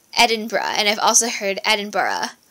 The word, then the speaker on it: Edinburgh: City and I used to think it was Edinburg but I was very wrong about that it's edinb and I've also heard Edinburgh but um natively